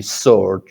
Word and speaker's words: sword: Sword, right? Not a sword. Sword. The W is silent.